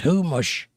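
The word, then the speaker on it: Chumash: And Sue Wood says, "Uh, humish is pronounced humush."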